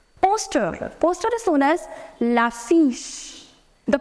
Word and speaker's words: l'affiche: Poster is known as l'affiche. The pronunciation of the combination CH in French is known as CH.